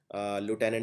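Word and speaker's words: lieutenant: के अंदर होता है देखिए लुटने में एक चीज याद रखनी है यह एल आई ई यू है लू जैसे यह शब्द आया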